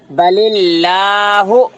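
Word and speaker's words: بالله: है इसलिए बलिला और इसमें कितने लेटर साइलेंट हो रहे हैं दो लेटर साइलेंट हो रहे अलिफ लाम अल्लाह के स्टार्टिंग के अलिफ लाम उंगली रखो कौन से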